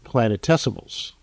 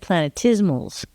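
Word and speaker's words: planetesimals: Planet tessimals. Yeah. Is that what I said? Well, you said planetismals.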